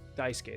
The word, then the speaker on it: Daisuke: and I'm on the soccer club Daisuke well Daisuke that's the printer correct pronunciation oh I see so that's how he